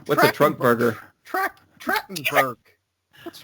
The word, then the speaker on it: Trachtenberg: Michelle Trunkburger? What's a Trunkburger? Trachtenberg. What's wrong with you? Trachtenberg. Hey, I can pronounce Nim, but I can't pronounce actors or actresses' names very well.